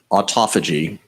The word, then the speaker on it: autophagy: Autophagy, it should be pronounced autophagy.